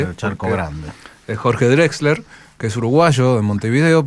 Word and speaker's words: Drexler: Aparte, vos sabés que ahora me estoy acordando que ¿se pronuncia? Drexler, sí.